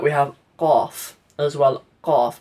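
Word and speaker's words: قاف: Qaf. It's not Kaf.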